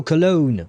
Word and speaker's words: Cologne: Uh Colon Oh, Cologne, right? That would be how you say it in English. I think Colon will be would be the German way of saying the name.